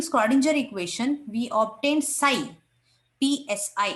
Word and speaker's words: psi: describes a function called psi it is pronounced as psi electron wave function it